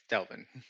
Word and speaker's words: Delvin: Is it Devlin or Delvin? It's Delvin. Delvin.